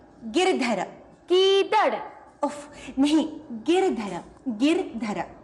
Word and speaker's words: गिरधर: मीरा के प्रभु गीदड़ ना गिर. गीदड़ नहीं, गिरधर.